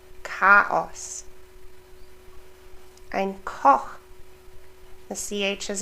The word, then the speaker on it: Chaos: Remember the ST, st, Stadt, and the CH, k, Chaos.